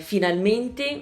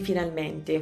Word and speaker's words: finalmente: bene invece di bene, potrei dire finalmente invece di finalmente, potrei dire pensiero invece di pensiero.